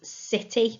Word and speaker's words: city: there we go city now it sounds like a s at the beginning doesn't it city but it's a soft c so it isn't the letter s it's the letter c so i'd like you